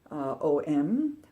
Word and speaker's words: Om: so you may be familiar with the mantra om which is pronounced own and is thought to be the